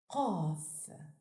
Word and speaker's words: ق: learned with native speakers this letter is pronounced off articulated with emphasis off is written from right